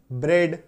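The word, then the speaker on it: bread: आई बात समझ में तो अगर आपको किसी शब्द में ए ए देखने को मिले तो समझिए वहां पे उच्चारण जो है वो एकर की मंत्र लेकर के आएगा जैसे की बी आर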